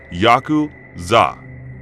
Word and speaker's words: Yakuza: cards to draw are eight nine and three pronounce yaku Za in Japanese the implication being that